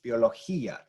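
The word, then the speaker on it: biología: as opposed to having Biologia you know that's not the word it's Biologia so we have to have e and uh as separate sounds but here e and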